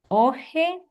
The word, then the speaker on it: hoje: Logo, aqui está bem mais quando temos uma J, também a pronúncia vai ser como uma já, je, ji, jojo.